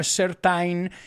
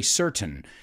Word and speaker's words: certain: thing is certain now careful with the pronunciation here no certain it's certain certain or you can say certain americanos we have that glottal thing there that's certain certain you